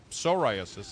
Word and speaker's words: psoriasis: But psoriasis, soriasis, it's it's pronounced psoriasis, but it's with a P.